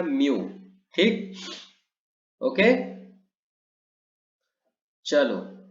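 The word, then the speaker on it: μ: बात समझ में आ रही, इसको हम प्रोनाउंस क्या करते हैं, म्यू।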